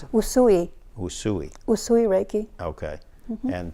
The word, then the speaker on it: Usui: How do you pronounce it? Usui.